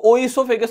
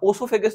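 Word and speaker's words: oesophagus: तो इसको ओइसोफेगस नहीं पढ़ना, ओसोफेगस नहीं पढ़ना, ओइसोफेगस नहीं पढ़ना, यह है ईसोफेगस।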